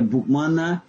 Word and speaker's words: Boukman: Donc Boukman, comme on a dit, c'était un savé, au point qu'on l'appelle Boukman, et ça se comprend comme ça se prononce. Boukman, Bouk, livre, men, homme, l'homme du livre.